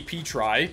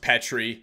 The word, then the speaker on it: Petry: I'm gonna go with none other than Jeffrey Petry I'm just kidding I know it's pronounced Petri so I just took Nick Letty to be